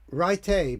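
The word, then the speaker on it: Rai: There's a little C note here from Chris Ray. Pronounced something like Ray.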